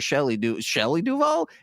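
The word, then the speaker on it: Shelley Duvall: at times especially at that end and whenever Shelly Duval am I saying that right you are yes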